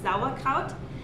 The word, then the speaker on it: Sauerkraut: europe especially in germany and a sauerkraut it's pronounced uh correctly sauerkraut and it just means sour cabbage so they